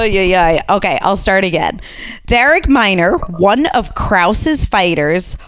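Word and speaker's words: Darrick: guy spells it d-a-r-r-i-c-k Derek yeah but it's pronounced Derek like oh just so many things wrong with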